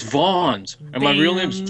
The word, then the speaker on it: Vans: It's pronounced Vons. That's Vans. It's Vons.